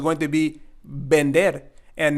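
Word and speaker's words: vender: the two e's and it's not Lear pero es Bender Vendetta means to sell bender and remember here the V sound or the B sound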